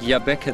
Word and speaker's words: Jabbeke: Africa that's that's correct and I see you pronounce it Yaba the way we were told to pronounce it it's not jaab it's y yeah it is this is John